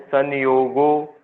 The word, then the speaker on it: संयोगो: दृष्ट दृश्ययोः संयोगो हे हेतु। सन क्यों बोल रहे हो आप?